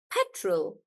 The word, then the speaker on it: petrol: that yeah petroleum and but for petrol when it's just petrol then we stress on pet and that's why we say petrol Petru like that yeah